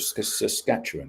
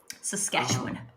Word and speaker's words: Saskatchewan: Saskatoon is the state capital of Saskatchewan, isn't it? Saskatchewan.